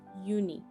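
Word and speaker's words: Unhei: turned to joy she nodded slowly yes it's pronounced uni and it means grace mr kim added yooni joey said slowly and this time perfectly it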